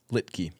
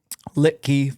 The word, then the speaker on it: Litke: Litkkey. Litkey from Minnesota.